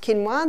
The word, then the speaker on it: quinoa: become familiar with it's spelled quoa but it's pronounced quinoa the Aztecs love their quinoa Aussies are starting to get familiar with it